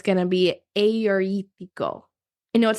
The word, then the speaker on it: Agiorgitiko: So when you're looking at it, there are two G's, and I'm actually pronouncing those G's like Y's. So it's Agiorgitiko. So it looks like Agiorgitiko, right? Now, instead of saying the G sound for the G, I'm saying the Y sound like Y.